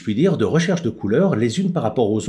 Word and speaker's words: Kuler: couleur, et en fait ça s'écrivait couleur K-U-L-E-R, et prononcé à l'anglaise couleur, et donc couleur, ça rappelait le couleur en français bien évidemment.